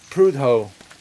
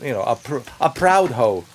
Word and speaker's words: Prudhoe: And that's where we're going, my friends, to Prudhoe. Prudhoe, not a hoe, but, a proud hoe.